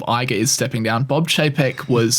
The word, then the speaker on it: Chapek: Bob Chapek? Am I pronouncing that right? Yeah. Chapek, yeah.